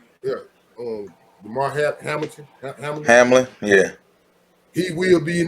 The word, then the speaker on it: Hamlin: DeMar Hamilton. Yeah, DeMar Hamlin.